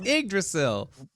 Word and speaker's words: Yggdrasil: It's Yggdrasil.